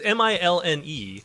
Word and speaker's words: Milne: It's Milne.